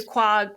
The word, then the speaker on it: Quogue: Is because I'm in a gallery there, the Quogue Gallery.